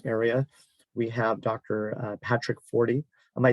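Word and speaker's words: Forde: Patrick Fordy. Am I saying your name right? Fordy or Forday? Ford, but either is fine. Ford. Okay. The E is silent.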